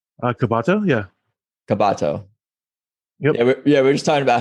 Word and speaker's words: Cabato: started recording your last name uh kabato yeah kabato yeah we're just talking about how people add